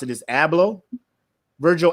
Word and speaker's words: Abloh: So if you don't know who Virgil, I believe how you pronounce it is Abloh, Virgil Abloh, mm-hmm.